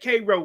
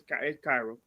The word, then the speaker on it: Cairo: But it's pronounced look, it got Cairo, but it's Cairo. Right. Cairo, Georgia.